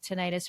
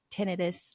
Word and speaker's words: tinnitus: It's called tinnitus or tinnitus, depending on how you pronounce it, that you can actually habituate to.